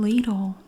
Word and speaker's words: Lidl: a little different oh it's from ladle yes that is how it's pronounced in the usa you're right lidl i